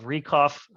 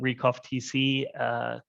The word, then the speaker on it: RECOFTC: I also want to thank ISTF for this opportunity on behalf of RECOF. Again, the C in our name is silent. I know it's hard. Everyone wants to call it RECOFTC.